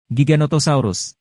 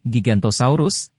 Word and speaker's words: Giganotosaurus: Giganotosaurus. Namanya sering salah diucapkan sebagai Gigantosaurus, nama yang sesuai untuk ukurannya yang sangat besar, tetapi sebenarnya itu adalah nama dinosaurus lain.